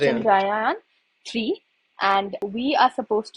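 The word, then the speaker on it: Chandrayaan: Then I remember the last question this was India is launching Chandra Yayan. How do you pronounce it? Chandra Chandraan three and we are supposed to design basically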